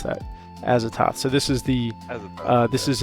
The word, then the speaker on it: Azathoth: Next we have is this Azathoth. Azathoth. I had to go look and see how to pronounce that. Azathoth.